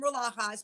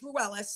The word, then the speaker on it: Ruelas: I call him Rulajas, but I know it's Ruelas.